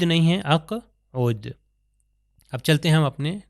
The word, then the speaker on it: اقعد: یہاں پر آپ دیکھیے یہ قاف پھر دوبارہ قاف اور یہاں پر دوبارہ قاف اقوم و اقعد ہے اقود نہیں ہے اقعد.